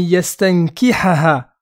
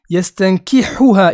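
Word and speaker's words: يستنكحها: Deuxième erreur, ay yastankihaha. Lui, il dit yastankihuha. Il a mis un hu, alors que là, c'était un ha.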